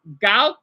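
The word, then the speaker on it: 高考: I can pronounce it. Darren, I think you know what it means, right? It's Gaokao.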